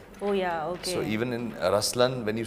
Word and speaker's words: Ruslaan: yeah so even in raslan when you say raslan also means the LI it's the attitude of am but the right pronunciation is rlan okay there is so